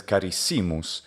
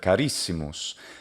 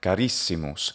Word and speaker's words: carissimus: But he says carissimus instead of carissimus. Penultimate stress rule again. Si is a short syllable because it has a short vowel and the syllable does not end with a consonant. Carissimus, not carissimus.